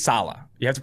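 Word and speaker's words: Saleh: i know that recently robert salah i think it's salah you have to pronounce the emphasis is on the saab it's salah has run an increasing amount of four three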